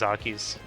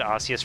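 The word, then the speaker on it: Arceus: I always pronounce it as Archus cuz I took it as like Archangel.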